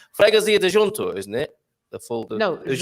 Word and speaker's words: freguesia: The whole sorts of pronunciations. Freguesia de junto, isn't it?